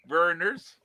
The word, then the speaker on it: Vernors: in the barrels burners burners burners burners vernors thank you dad for reaffirming my pronunciation anyway who would like to go next